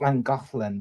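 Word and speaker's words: Llangollen: Loflin although it's spel although it's spell it's pronounced Lang golin but it's spelled lolan okay l l a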